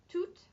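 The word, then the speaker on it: toute: and feminine plural and those forms are two for masculine toot for feminine to for masculine plural and toot for femin in plural so you're hearing to and to and those are the pronunciations whether or not they have an s on the end okay how might these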